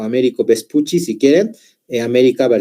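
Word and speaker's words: Amerigo Vespucci: Miren, si bien ustedes leen su nombre, es Américo Vespucio, generalmente su pronunciación es Américo Vespucci, ¿ya?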